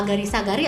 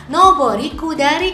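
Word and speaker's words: 上り下り: Apakah agari sagari atau nobori kudari? Nah, biar enggak bingung yuk kita simak materi di video kali ini ya. Jawabannya kalau yang ini adalah nobori kudari.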